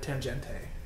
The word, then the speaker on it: Tangente: I've been interested in getting the Tangente. That's how you pronounce it.